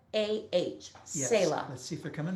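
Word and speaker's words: Selah: lead singer of saila they spell it s-e-l-a-h sayla let's see if they're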